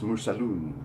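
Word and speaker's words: مرسلٌ: When it's pronounced in this formal Arabic, it's mursalun because it's describing the insan, the insanun.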